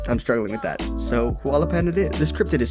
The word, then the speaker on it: Huallepen: just now realizing that I think it's actually pronounced Hau yapen because it's from Chile but I'm struggling with that so halaan it is this crypted